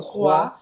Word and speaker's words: crois: Não vai pronunciar o S no final. E ele fala o O com som de UA. je crois que, do verbo croire, croire, acreditar, croire.